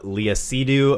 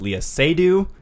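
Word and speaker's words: Léa Seydoux: because we talked about i kept calling her uh leah cdu apparently the proper name to pronounce way to pronounce her name is leah sedu so i wasn't that far off what do you say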